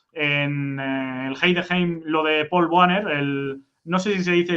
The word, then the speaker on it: Paul Wanner: O sea, si haces la pronunciación exacta es Paul Vanna. Pero Van, con bueno, decir Paul Banner me parece bien.